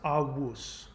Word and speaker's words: avus: The Latin version of ancestor is, it's spelled with a V, but it's pronounced avus.